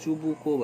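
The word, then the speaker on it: Чубуков: কোনো নোট বই দেখবে এটা চুবুকোভ আছে, চুবুকোভ, যে যা ইচ্ছে বলতে পারিস। হ্যাঁ, রাশিয়ান ভাষায় ওটা তালবস্য উচ্চারণ করা হয়, তাই আমি সুবুকোভ বলি।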